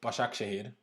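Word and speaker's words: Başakşehir: we leipzig and istanbul bashar akshay apparently is how it's pronounced so tough group tough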